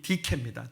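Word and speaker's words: δίκη: 저스티스란 말이잖아요 근데 여러분이 말이 헬라 말로는 발음이 디케입니다 디케 아 그이 말 자체가 저스티스는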